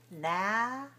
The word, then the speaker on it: analysis: And in this case, for the noun, we have four syllables and we say analysis, stressed on the second.